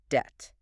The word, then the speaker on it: debt: Debt. Debt. DPT and the slab. Correct, Pronounced debt. It rhymes with the jet or a net.